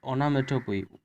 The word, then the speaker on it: onomatopoeia: The second is onomatopoeia. Just is very difficult pronunciation.